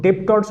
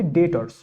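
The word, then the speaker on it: debtors: তো ডেবটর্স অনেকে বলে, বাট এটা ডেবটর্স হবে না, এটি ডেটর্স। কেমন? এর যে প্রনাউন্সিয়েশন উচ্চারণ হবে সেটি হবে ডেটর্স। ডেটর্স, বিটা একদম সাইলেন্ট, যাকে ওটা আলাদা ব্যাপার।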